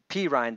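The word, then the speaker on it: Perine: Perrine, Right. uh, I is think that? Am I say his pronouncing that name P right? Ryan. I think. Okay, P. Ryan.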